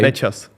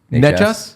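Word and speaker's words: Nečas: Necas. Necas?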